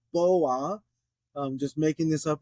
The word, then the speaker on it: בוא: um but wow you could think of a boa constrictor coming into the room so boa I'm just making this